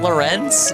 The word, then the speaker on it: Lorenz: lifespan of the entire game without having base Lorenzen?